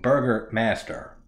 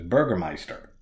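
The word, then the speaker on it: Bürgermeister: Burger Master Burgermeister the the subtitles say fucking Burger Master but when they the way they pronounce it is Burgermeister he's he's a fucking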